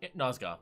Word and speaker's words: Nozgoth: How do you pronounce? Did I pronouncing his name wrong? Nozgoth, yeah. Nozgoth, okay. So yeah, he just reminds me of Tangarth.